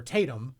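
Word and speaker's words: Tatums: I've never heard it in the opposite until I read the entry for Tatum's or Tatum. Yep. I guess the Tatum. S is silent.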